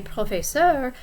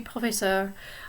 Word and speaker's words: professeur: Notice now when I say professeur that the S is silent because professeur begins with a consonant and not a vowel.